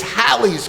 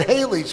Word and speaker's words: Halley's: Technically, it's Halley's Comet, but people would mispronounce it Haley's Comet, which was conveniently Bill Haley's last name.